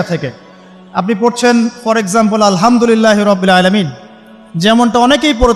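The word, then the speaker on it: الحمد لله: বলে সে বলেছে আলহামদুলিল্লাহ ওই যে হা এর উচ্চারণ পরিবর্তন হয়ে গেছে এই কারণে অর্থ পরিবর্তন হয়ে দাঁড়াবে যে সমস্ত নিন্দা আল্লাহর জন্যে যিনি জগৎসমূহের রব আমার কথা কি বুঝতে পারছেন শুধু হা এর মাখরাজ ভুল হওয়ার কারণে এই সমস্যা হলো তাই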